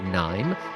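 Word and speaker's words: KNIME: the founder and CEO of a company called Nim that's spelled KN n i m e e and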